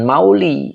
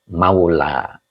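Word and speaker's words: مولى: dijirkan dengan kasrah muqadar jadi jangan Mauli ya karena di sini ada Alif jadi ini aslinya bengkok Alif ini Maula Kenapa jadi lurus karena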